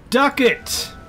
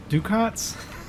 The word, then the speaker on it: ducats: see this duck it duck it rhymes with bucket what have i been calling it ducats duckets suck it sometimes